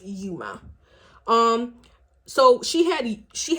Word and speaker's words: Uoma: uh Sharon's C she is the owner of you Oma and you Oma by Sharon C she is Nigerian born and actually I'm mispronouncing the brand so it's actually pronounced Yuma and it means beautiful um yeah it means